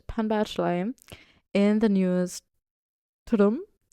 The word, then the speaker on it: Tudum: And she was like, it's a sound that Netflix makes. It's TUDUM. I was like, oh, that's embarrassing.